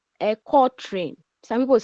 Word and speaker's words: quatrain: It is spelled quatrain, but it is pronounced quatrain.